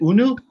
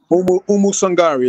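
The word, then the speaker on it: Oumou Sangaré: And Will, you have to help me out with the pronunciation. Is it Unu? Umu Sangari is her name.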